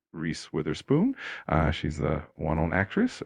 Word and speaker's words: Reese Witherspoon: The name is pronounced Reese Witherspoon.